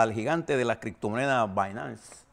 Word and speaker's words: Binance: gigante de la criptomoneda Binance. Se escribe Binance, pero esa B se pronuncia BAE.